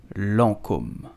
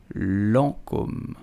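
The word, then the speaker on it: Lancôme: L'Oreal luxury product division so how do you pronounce it you will simply say Lancome Lancome hello foreign did you know that the name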